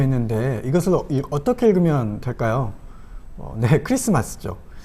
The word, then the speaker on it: Xmas: 이것은 어떻게 읽으면 될까요네 크리스마스죠 크라이스트가 크라이스트 헬라어가 이제 크리스토스인데요이 크리스터스의 첫 번째 헬라어 알파벳이 카이인데 영어로 x와 모양이 같고 발음을 크로 하는 것이죠 그래서 x 마스는 크리스토스 마스 크리스마스 야고어입니다 그러면 엑스 마스로 읽으면 안 될까요 웨스터